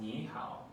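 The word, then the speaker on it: 你好: say hello in Chinese and in Chinese is pronounced Nihao which is two words Chinese - Chinese characters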